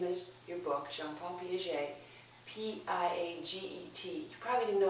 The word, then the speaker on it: Piaget: seen his name as your book jean-paul piaget p-i-a-g-e-t you probably didn't know how to pronounce it okay it looks like p a get or something it's pronounced piaget he talks about